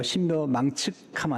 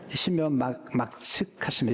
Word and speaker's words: 신묘막측: 발음 잘해야 돼요. 신묘망측하면 안 돼요. 신묘막측하심이라.